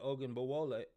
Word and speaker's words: Ogunbowale: And what's really cool about this is Dare Ogunbowale. That's right. I said it right. Ogunbowale was the backup kicker.